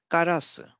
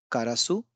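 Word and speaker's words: からす: Karasu. Similarly, it's not karasu, it's karasu.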